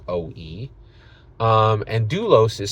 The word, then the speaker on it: Oou: It's OOU, spelled OOU, and pronounced OE.